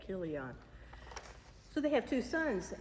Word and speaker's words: Chilion: And they have two sons, Mahalan and uh Chi Chilion or Keilian. It's that Kilian. Yeah, because it's ch is pronounced what? Like a K. Killion.